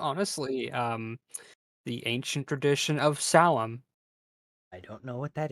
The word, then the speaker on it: Samhain: So the aspect behind this tradition, more or less, yeah, that's how it's pronounced, Salem.